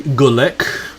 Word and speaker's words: Gulek: It's like, that was not a bad attempt, Starfleet, at pronouncing my surname, but it's actually Gulek.